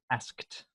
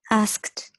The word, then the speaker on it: asked: asked asked that's it asked not ass kicked okay I say yeah asked nicely I should the only time we add an extra syllable is if the verb ends with a tea or a D like started started yeah but with the K sound we don't want to add any extra syllable just a T asked asked and then okay